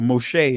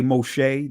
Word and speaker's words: Moshe: So when you say Moshe, that's Israeli pronunciations. But you go to the primitive root word, Masha.